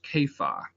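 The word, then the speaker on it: Kepha: Cephas or an aramaic it would have been pronounced caifa and this is an aramaic word which means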